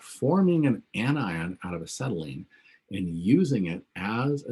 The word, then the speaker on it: acetylene: all right questions about forming an anion out of acetylene and using it as a nucleophile to attack